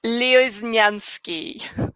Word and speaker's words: Lioznyansky: just nope nope i'm gonna help you out leo is nyansky yep yep okay i have a hard last